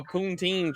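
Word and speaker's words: poutine: had like a a poonteen trunk is that pountine is that how you say it yeah that's how we say it you keep saying it like that our ice cream trucks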